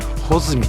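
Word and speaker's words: 八月一日: 8 月 1 日と書いて穂積とはもうこれ絶対に読みませんね。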